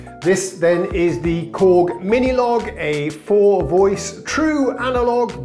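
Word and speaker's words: Minilogue: just invented a synthesizer apparently it's pronounced log as well this is the mini log what was I saying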